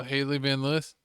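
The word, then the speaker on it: Hailey Van Lith: Oh, Haley Van Liss.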